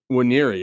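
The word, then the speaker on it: Nwaneri: It seems like the N is silent. So it's Waniri? Waniri Okay, is I'll how say he that.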